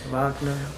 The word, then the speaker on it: Wagner: Pronounce it over here. Wagner.